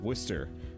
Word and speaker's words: Worcester: Is it actually supposed to be pronounced Chester, or is it like English it's Worcester. These where it's... It's just yeah, Worcester.